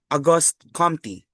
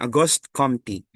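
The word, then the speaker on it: Auguste Comte: Una sa paradigm ay ang paradigm ni August Aughost Compty. Okay. Gan ganun daw yung ano pronunciation. Aughost Compty.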